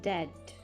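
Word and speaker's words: debt: ट कर्जे के लिए डी ई बी T word का यूज किया गया है जहां पर बी साइलेंट होता है और प्रोनाउंस करते हैं दैट वो एकदम से रसोई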